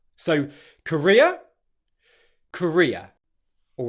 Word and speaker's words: Korea: Again, because it's a diphthong, you put the stress on the primary part of that diphthong, which is why it sounds so similar to the country Korea. So Korea, Korea.